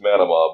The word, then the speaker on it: Manama: to us now from he says it's manna mob but I'm still gonna pronounce it Manama Bahrain oh oh oh